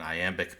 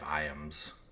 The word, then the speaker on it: iamb: Anyway, an iamb is a 2-syllable, where the 2-syllable pair where the stress is on the second syllable. Ba-bum, ba-bum, ba-bum, ba-bum, ba-bum is what an iambic pentameter line sounds like.